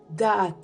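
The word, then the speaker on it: דעת: Nous avons ensuite le mot connaissance, qui se prononce da'at.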